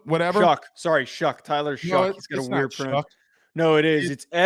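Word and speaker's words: Shough: shuck sorry shuck Tyler shuck he got a weird no it is it's s h u g but it's pronounced shuck it doesn't have a K in it yeah I don't h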